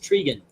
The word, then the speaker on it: Trigun: It's pronounced Trigan.